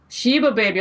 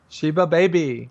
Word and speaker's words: Sheba Baby: Sheba Baby. Okay, there you go. That's how we pronounce it. She's telling you exactly like that. Sheba Baby.